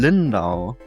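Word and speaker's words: Lyndow: didn't even know about about, which is Leaving Lindal. Yes, is that how you pronounce it?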